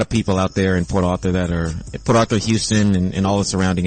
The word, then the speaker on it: Port Arthur: Can you say Port Arthur one more time? Port Arthur. I don't know how to say it like that. I say Port Arthur. I mean, you can say ours. Do you say ours when you say Do you say the R when you say I'm sorry, what?